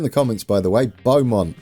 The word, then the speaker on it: Beaumont: comments by the way beaumont not bum i do like to